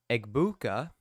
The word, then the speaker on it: Egbuka: and stepping out of Bounds at the 18 egbuka aa abuka aa abuka that's how you say